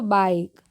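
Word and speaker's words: bike: आगे देख लेते हैं बी आई के ई क्या पढ़ेंगे इसको बाइक आर आई पी ई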